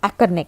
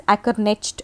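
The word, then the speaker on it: Ackerknecht: In 1942, pronounce this as Ackerneck. Okay, it's a German name, Ackerneck, So, some people say it as Ackernecht also. You can say it Ackerneck or Ackernecht as per your convenience.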